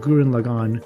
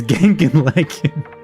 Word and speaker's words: Gurren Lagann: And he's really bad at pronouncing Japanese names, so when he was asking about Gurren Lagann, he was like, hey Felly, what's the one anime with Simon and Yoku? It's Genkin Lagann.